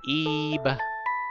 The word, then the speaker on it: Ib: Yes, pronounced Ebe. I-B. Really simple. Really easy to follow along, just Ebe.